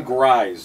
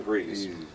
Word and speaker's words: Jon Gries: Jon Gries, not Jon Gries.